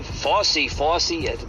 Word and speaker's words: Fauci: know the FY story FY FY that's how you say his name I can never say his name right FY uh F Au u c right FY FY might